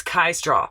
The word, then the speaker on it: Kai Straw: So sometimes my brain just does that, but I want to make sure I pronounce it right. So it's Kai Straw, and that song Pressure, right?